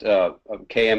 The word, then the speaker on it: Caim: starters well just noticing the Keith said it's pronounced km is pronounced kind yeah there's two ways to pronounce it and I take the point but the Celtic people that I talk to pronounce it km but it's it's at least it's spelled CAIM